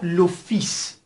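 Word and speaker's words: le fils: کلمه بعد لوفیس. لوفیس در اینجا دوستان ال تلفظ نمیشه، لوفیس پسر هست.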